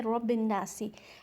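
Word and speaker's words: رَبِّ النَّاسِ: Means continue करते हैं, तो हम इसको पढ़ेंगे रब्बिन्नासी। लेकिन यहाँ पर वक्फ की अलामत है, यहाँ पर हमें स्टॉप करना है, तो हम यहाँ पर पढ़ेंगे रब्बिन्नास।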